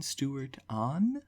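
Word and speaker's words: Stewart-Ahn: Aaron Stewart on, I believe is how you pronounce the name.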